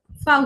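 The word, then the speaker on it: Vau: যেমন ভি কে উচ্চারণ করা হবে ফাউ হিসাবে, ফাউ, ফ এর মতো উচ্চারণ হবে।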